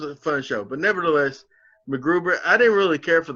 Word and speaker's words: MacGruber: Matt Gruber. Is that how you pronounce it? Is it Matt Gruber or MacGruber? It's MacGruber. It's MacGruber. It's like MacGyver. Yeah.